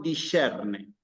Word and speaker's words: discerne: La S con la C se pronuncia como una CH suavizada. Digamos, discerne, ¿sí? No es discerne, no es discerne, sino discerne, ¿sí?